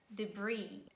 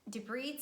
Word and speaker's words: debris: the following words island and isle isles never pronounce it please learn it and some random word debris debris some trash or garbage or waste a lot